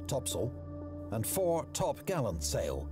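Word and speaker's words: topsail: the four course four Top Sail pronounced topsel and four top Gallant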